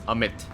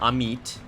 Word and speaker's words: Amit: It's Amit. It's not Amit.